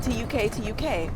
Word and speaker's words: tuk tuk: So, as uh as Deena was saying, it's spelled T U K T U K, but it's pronounced like you took a ride on the Tuk Tuk.